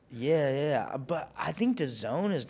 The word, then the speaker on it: DAZN: I think there's some issues right now with um Dazn or Dosen or whatever with Dazn, sorry.